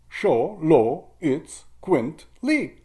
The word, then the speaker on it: Xoloitzcuintli: And you don't even pronounce the X. Xoloitzcuintli.